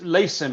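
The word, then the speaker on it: Lasimm: you know years ago this is a it's lacin it's spelled l a s i double m and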